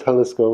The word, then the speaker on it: Jalisco: you saying so i i believe it is jalisco so thank you commenter for correcting me for